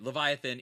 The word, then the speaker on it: Leviathan: from Tangiers it's the how do you pronounce this is it the Vivian Leviathan by a Leviathan yeah like the mythical creature okay Leviathan it is a sage